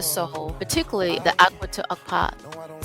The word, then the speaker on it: Okap: pronounce these, you got to emphasize the second half.